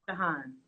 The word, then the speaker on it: Jehan: Can you tell me the correct pronunciation of your name? Oh, it's Jehan.